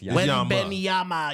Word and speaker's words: Wembanyama: Yeah, it's Wembanyama.